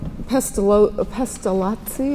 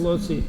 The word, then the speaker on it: Pestalozzi: Well, Pestalozzi, is that how you pronounce it? Pestalozzi, Italian.